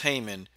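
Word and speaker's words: Haman: from the Bible where a wicked man named Haymon, pronounced Haymon, set his seat above all the princes that were with him.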